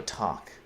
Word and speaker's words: talk: It's funny, you don't ever pronounce the L in talk. You just go talk.